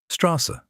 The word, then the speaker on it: Straße: It's just a sharp double S. That's the entire rule. Straße, that means street.